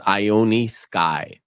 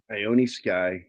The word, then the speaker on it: Ione Skye: all the time and it's spelled weird as well her name is ioni sky ioni sky and I O NE e and only 17